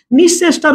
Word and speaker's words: নিঃশেষ: শেষ আমি এটা লিখলাম এটার উচ্চারণটা কিরকম হয় জানেন শেষ তালব্য এর মত উচ্চারণ হয় মধ্য এর উচ্চারণ কখনো হয় না নিঃশেষটার উচ্চারণটা স দুইবার হয়ে যাবে এখানে নিঃশেষ স কেন